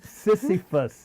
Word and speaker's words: Sisyphus: Oh, I just pronounced it right. Sisyphus.